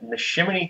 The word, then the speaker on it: Neshaminy: And now they stopped at Neshaminy Creek Brewing.